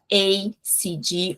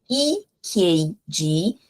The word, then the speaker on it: EKG: ECG, bastante gente se embanando um pouco aí, fala ACG or AKG. A é a letra A, não é essa letra que a gente quer falar nesse momento, é I. Então, EKG, ECG, EKG, ok?